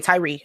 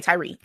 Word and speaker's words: Tyre: a video real fast so I can make sure I have his name pronounced right I just can't hear somebody say it okay okay Tyree okay okay Tyree all right what do